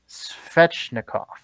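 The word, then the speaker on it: Svechnikov: words i know how to say this evgeny schwechnikov fetchnikov yes yes okay ah second-guessing myself come on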